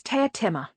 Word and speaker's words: Teatime: Susan lined up the syllables in her head. You mean like around 4 o'clock in the afternoon, she said. No, I did say Teatimmer, said Teatime. I spoke very clearly.